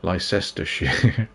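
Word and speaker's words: Leicester: in the Roman period Lester Le how do you say that leester here it's leester here is it not Lester here London WI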